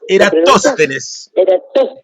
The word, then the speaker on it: Eratóstenes: ¿Cómo se pronuncia? Eratosthenes. Eratosthenes.